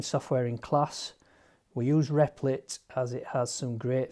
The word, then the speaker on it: Replit: have an image of riplet we call it replit it's r e p l dot i t pronounce riplet it's a website that provides an